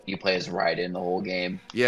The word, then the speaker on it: Raiden: Like I I love Ra is it how do you say Raiden or Ryden?